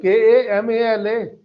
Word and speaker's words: Kamal: When I'm writing it in Hindi and I'm writing like Kamal, I just wrote there, then in the end, la ends with certain very subtle, very soft pronunciation of A, which is completely missing.